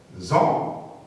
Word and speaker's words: faisons: Première personne du pluriel, on va dire faisons. Donc, ça s'écrit avec AI, mais on dit feu.